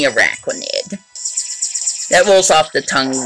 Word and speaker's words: Araquanid: I kept saying Arquanid or Araquanid or something like that. But it's definitely Araquanid.